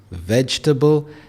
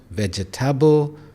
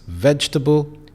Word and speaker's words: vegetable: We have three syllables, vegetable, and it's not vegetable, which is very common. So again, it's vegetable.